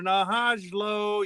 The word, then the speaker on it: Hajlo: And Hajlo. Yes, you heard the J. It's pronounced loudly.